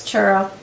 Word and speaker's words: churro: whole world, and that's Churro. Yep, Churro. I can't say it like they do. They roll the tongue.